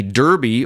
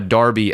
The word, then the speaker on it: Derby: that's a clean sheet a derby or a Darby as it's pronounced in the UK or if you're you have an English accent because I'm American I'm going to say Derby d-e-r-b-y is usually a football